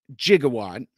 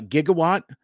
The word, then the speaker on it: gigawatt: your preferred pronunciation is I say jigawatt because that's how Doc Brown says it in the movie and uh in Back to the Future um Jeremy from Transmissions um says uh gigawatt because I believe that